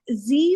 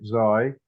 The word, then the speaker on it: xi: I pronounce it Xi just because I pronounce Phi and Chi and Psi that way, but others pronounce it Z and Phi, He, and C. So take your pick. I tend to make it a long I because it's easier for me, but native Greek speakers will tend to make that an E sound.